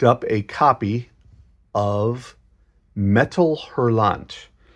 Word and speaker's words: Hurlant: a copy of metal herant metal herant erant I believe it's called um I think it's a silent h uh is the French